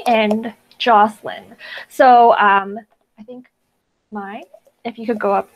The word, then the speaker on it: Mai: So I think Mai, if you could go up first and do your speech, please. Oh, yes. Hi. Sorry. Thank you. Yeah, it's just pronounced Mai. My name is Mai, and I guess I